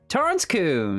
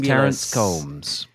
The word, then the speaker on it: Torrance Coombs: and with this with us this week is Toren Coons that's right you even pronounced it even pronounced it correctly hey I